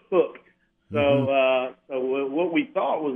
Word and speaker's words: Huk: Our brand name, it is spelled H-U-K, which is the phonetic pronunciation of the word hook. Okay, that's what I wondered. So it's not pronounced hook, it's hook.